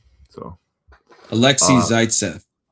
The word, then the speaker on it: Zaitsev: So Alexei uh Zaitsev. Zaitsev. It's like Zeitgeist. Like Zaitsev.